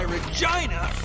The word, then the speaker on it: Regina: That's why Regina rhymes with fun.